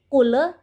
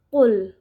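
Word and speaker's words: قُلْ: kedalam huruf Qalqalah jadi cara membacanya tidak boleh di mantulkan ataupun ditahan seperti Kule ataupun cool dan cara membaca yang benar yaitu full full langsung dimasukkan ke dalam huruf lam sukunnya selanjutnya full ao ada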